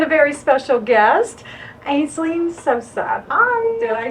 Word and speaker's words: Sosa: of mine and a very special guest, Aisling Sosa. Hi. Did I say it correctly? You Sosa. did. Sosa.